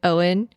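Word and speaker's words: Eoin: Apparently, she has a boyfriend now named Owen, but it's spelled like the Irish way, like E O I N.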